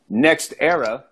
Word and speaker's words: NextEra: So speaking of pimping in the game, okay, NextEra is a company. Spell it just like it sound, all one word, NextEra.